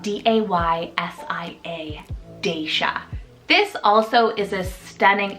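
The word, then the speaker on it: Daysia: Second D name is Daisha, spelled D-A-Y-S-I-A, Daisha.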